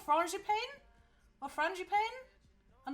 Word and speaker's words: frangipane: i pronounce it wrong frangipan is that right or wrong is it is it something is it something like fragipal or something like that or frangipane oh i'm right friend japan okay um where's my